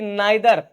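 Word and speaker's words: neither: rule number 4 क्या कहता है कि नाइदर, इसको नीदर भी बोलते हैं, प्रोनाउंस कुछ भी, चाहे नाइदर कर लो चाहे नीदर बोल लो, नाइदर ऑफ, यानी कि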